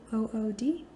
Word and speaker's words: Bythewood: Her last name is hyphenated, and the Bythewood actually is spelled the way that it sounds, Bythewood.